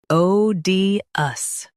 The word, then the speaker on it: odious: Stress O and keep D light.